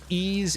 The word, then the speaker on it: Ys: unfamiliar with the franchise ease is spelled Ys and then Locos of